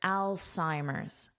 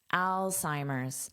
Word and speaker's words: Alzheimer's: So, notice this beginning is pronounced like the name Al. Al. Now, this is pronounced as an S. sigh. And this H is not hurt. Alzheimer's. Alzheimer's.